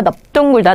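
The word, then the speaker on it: 넓둥글다: 근데 요 단어들이 될 때가 있어요. 넙죽, 넙둥, 넓적하다라는 말이 만들어져서 나왔을 때는요. 얘네가 원래는 리을이었지만 이때는 뭐라고 발음하세요? 비읍으로 발음하셔야 됩니다.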